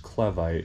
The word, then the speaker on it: Clevite: sent us right here it's not pronounced clevite it's clevite apparently you say tomato whatever whatever you guys get